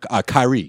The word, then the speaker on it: Kyrie: Kyrie. That's how you say it.